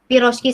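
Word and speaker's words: пирожки: Piroshki sendiri ini banyak ditemuin di Ukraina juga dan di Poland. Piroshki. Ini kan pi, ini ro, ini kan ada j sama ki, jadi bacanya piroshki.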